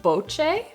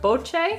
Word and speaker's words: BOCE: The brand is called BOCE, B-O-C-E with an accent on the C. What would you say, Christopher? BOCE?